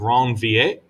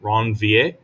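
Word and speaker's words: Ranvier: called a node of wrong va uh r-a-n-v-i-e-r ron va uh i hope my french pronunciation is is good enough um that's just kind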